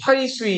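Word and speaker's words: 淮水: 자, 요렇게 흘러나가는 이 강이 회수죠, 회수. 회수. 혹은 회하라고도 불러요. 근데 회수라고도 많이 불러요. 중국 사람, 이거 회수는 이제 순 우리말이고, 중국 사람들이 회수를 이제 회수라고 읽지 않고 화이수이 이렇게 읽기도 하거든요.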